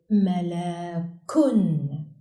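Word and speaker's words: مَلَكٌ: In its final word position, doubled dhamma on kaf is pronounced kun, like in the example malakun, which means angel.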